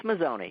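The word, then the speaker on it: Mazzone: Am I pronouncing it? Is it Mazone or Mazone? It's Mazone. Yeah.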